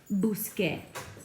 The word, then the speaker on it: busqué: The reason we can't do that is because this C, when you pair it with an E, does not make the K sound. We need to have that hard C sound. So in order to make that K sound, we have to change it to a Q.